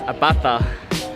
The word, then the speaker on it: Abaca: a bastard village so it's spelt as a BAC a Ibaka by you pronounced to see as a fur so it's a bata so that's on the